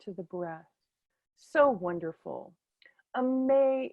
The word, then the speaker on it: Aimée: So you might think of it as, but it's Aimee because it is the French pronunciation, which always tickles me, an English woman with a French name living in America.